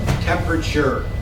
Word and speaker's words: temperature: one temp that's pronounced temperature tempure that t e is pronounced like it would be a CH temperature take a look